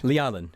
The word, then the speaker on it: Lyalin: Oleg Lyalin, am I saying that right? Lialin. Lialin. Yeah, I'm never saying it right, a variation.